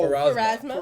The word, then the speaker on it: Pharasma: used to was once used as for the priestess Pharamas, Pharasma, Farrah Fawcett. Pharasas. It's Farrah Fawcett. It's It's that poster where she's doing this thing in the red Phasma. swimsuit. No, Pharasma?